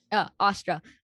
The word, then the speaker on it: astra: that when aru is picking up the the astra and or astra how do you say it you said it right austra um and she says that only another pandava